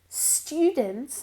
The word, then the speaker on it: students: Listen to the pronunciation of students. Stew. Aparte de que no decimos una E, no hay una E delante de la S, students, ¿ok? Es como si hubiera una I entre la T y la U.